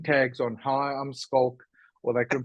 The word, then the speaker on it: Schalk: Hi, I'm Schalk, or they couldn't pronounce Schalk. They said Schalk.